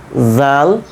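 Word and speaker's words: ذ: জাল সা তাই না কিভাবে পড়বো আমরা জিহ্বার আগা উপরের দাঁতের আগার সঙ্গে লাগিয়ে দিব এই অংশে ওপরের দাঁতের আগা ঠিক আছে জাল সা জাল সা প্র্যাকটিস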